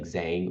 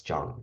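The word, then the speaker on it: Zhang: kind of like J so like for example um Jang right that would be z h n g in English we probably pronounce it as like Zang or Jang but um in English in Chinese we pronounce it as Jang so zh is the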